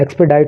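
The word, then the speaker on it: expedite: एक्सपेडिट का मतलब होता है, एक्सपेडाइट होता है इसका प्रोनाउंसिएशन, एक्सपेडाइट करने के लिए यानी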